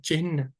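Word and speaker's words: चिह्न: लेकिन ऐसा नहीं है हमें हा को पहले बोलना है चिन्ह चिन्ह ऐसे में बोलना है तो इसमें क्योंकि हमें बहुत समय से हम लोग यही बोल रहे हैं तो हमें शुद्ध उच्चारण करना मुश्किल है इसका है ना चिन्ह तो हा पहले बोल रहे हैं लेकिन लोग ऐसा नहीं बोलते लोग चिन्ह बोलते हैं चिन्ह ना को पहले बोलते हैं हा तो कहीं आता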